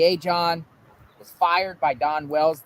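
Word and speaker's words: Ajan: summer Wells case Dudley a John is once a John I was pronouncing it wrong it's a John a-j-a-n did by authorities W.A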